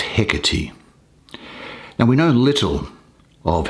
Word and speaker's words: Hecate: Now, this is the Greek goddess Hecate, spelt Hecate, but pronounced Hecate.